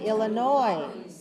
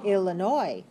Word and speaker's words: Illinois: All right, Illinois. Silent S means don't pronounce the S. It's not noise. That's too much noise. So just say Illinois.